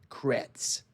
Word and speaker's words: Kretz: Kretz. Kretz. Not Kurtz.